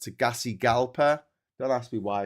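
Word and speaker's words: Tegucigalpa: The capital here is pronounced Tagasi Galpa. Don't ask me why it's pronounced Tagasi Galpa.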